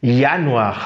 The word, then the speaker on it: Januar: Lorsqu'on prend par exemple janvier, nous sommes en janvier, donc janvier en allemand, on prononce ça Januar, vous voyez, Januar, on prononce ça Januar.